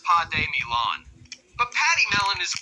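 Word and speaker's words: pademelon: related to Kangaroos and wallabies but are significantly Patty melon well close it's actually pronounced P Milan but Patty melon is a pretty cute name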